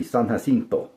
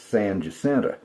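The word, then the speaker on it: San Jacinto: They'll look at San Justenta and think it's San Hento or in Spanish it would be Saninto but in Texan it's Sanenta.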